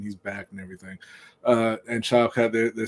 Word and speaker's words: Shavkat: the beginning, they were kind of hyping up Shavkat. That's how you say his name? I was trying to figure out how to pronounce his name.